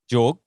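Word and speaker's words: Jord: Jorg. Yeah. Yeah, man. Okay. So that's how you pronounce it, right? Jorg. Yeah. Jorg.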